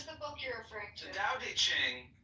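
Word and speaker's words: Tao Te Ching: book you're referring to Da Ching pronounced more or less da de Jing can be translated as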